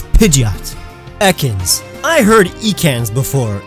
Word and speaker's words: Pidgeot: For each entry, I will say the correct pronunciation first, and then describe the mispronunciations that I've heard. Now let's start with Pidgeot. Now I've heard people say Pidgeot, and I totally understand the mindset behind it